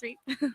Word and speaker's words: Reep: Is it pronounced Reep? Yes, Reep.